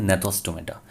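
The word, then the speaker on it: Gnathostomata: इसमें जी साइलेंट है इसलिए इसको कहते हैं नेथोस्टोमेटा।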